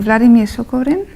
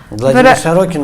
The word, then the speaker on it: Владимир Сорокин: I came across, I don't know how to pronounce his name, Vladimir Sokorin. Владимир Сокорин? Yeah. Или Сорокин? And he wrote. Writer? Yes. And he wrote Norma. Владимир Сорокин, да, это, на мой взгляд, просто один из самых лучших современных писателей.